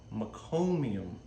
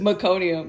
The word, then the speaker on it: meconium: really dark nasty tar um poop it's called meconium did I say it right we Disorder so many times I don't even know at this point I'm like I hope you don't ask me just meconium meconium okay so babies have is two it's